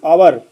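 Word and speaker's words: hour: ही इज आवर late आवर इसको हावर नहीं पढ़ते। आवर पढ़ते हैं। एच साइलेंट होता है।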